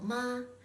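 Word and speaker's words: 麻: Next, when you assign the second tone to the syllable ma, it's pronounced ma with a rising tone.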